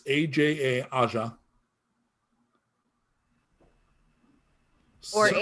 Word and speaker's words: Aja: AJA, like the Steely Dan album. I was just gonna say, which is Asia, but It is exactly like the Steely Dan album, except that it's not pronounced that way. correct. Okay, it's Aja.